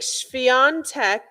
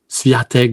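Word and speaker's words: Świątek: So like Swiatek is Yeah. the SW is a V Yeah.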